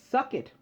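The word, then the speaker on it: Succat: his full name was my win suck it sort of like the Jewish holiday suck it I don't know um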